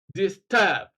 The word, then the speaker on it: disturb: The prefix is dis, D-I-S, so it's not stressed. Stress then falls on the second syllable, turb, disturb.